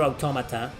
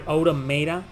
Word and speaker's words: Automata: did one for Near Automata, which wasn't a rage compilation video, more like a funny moments compilation video of my live stream of near Automata. Automata, sorry, Autoda, it's pronounced automata.